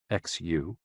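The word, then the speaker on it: xū: The 6 sounds are XU, pronounced like shh, with a deep sigh, which is associated with the liver.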